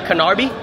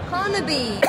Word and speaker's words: Carnaby: Canary? Canarby? Oh my God, it does say it right there. Carnaby. Carnaby Street.